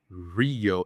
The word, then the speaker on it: Rio: I always like to mention the sea of Rio. It's not Rio Janeiro. So it sound it sounds like H actually the way you pronounce it.